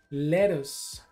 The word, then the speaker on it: lettuce: Lettuce, lettuce, lechuga, lechuga. Para pronunciar esta palabra, lettuce, esa doble T la pronuncias como un aire.